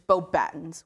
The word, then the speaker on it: Beauxbatons: It's Beauxbatons. Or if you're British, it's Beauxbatons, which I never understood, but you know, you get the idea.